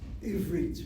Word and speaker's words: עברית: Ivrit.